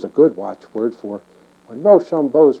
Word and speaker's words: Rochambeau: And it was a good watchword, for when Rochambeau is pronounced quickly, it begins to sound like "Rush on, boys," which is just what we were waiting to do.